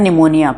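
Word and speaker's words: pneumonia: human मोटो न्यूमो virus न्यूमो होता है निमोनिया पी पी निमोनिया निमोनिया की स्पेलिंग पी से शुरू होती है तो वो ले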